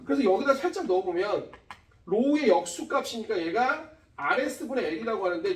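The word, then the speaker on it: ρ: 로우라고 해서 얘가 읽을 때 로우라고 읽어.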